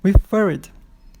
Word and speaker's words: referred: E refer. Refer, a sílaba forte é justamente a que tem CVC. Então, pode dobrar e colocar ED. Referred.